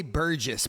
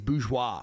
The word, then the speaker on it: bourgeois: I always say Burgess, but I don't think that's how you say that word. I think it's bourgeois, right?